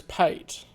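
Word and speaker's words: pâté: Because I've seen that so much in food, where they mean pate, but they don't put the accent on the E, and it's pate.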